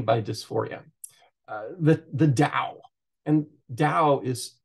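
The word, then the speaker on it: Tao: dysphoria uh the the Dao and Dao is spelled t-a-o and it is pronounced Dao as if it's with a d I don't know why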